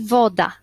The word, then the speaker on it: woda: I woda, akcent pada na o, a nie na przykład na woda, tak?